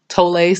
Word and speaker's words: Tolle: um I do recommend Eckhart Tolle tolay some people pronounce it totally up and I was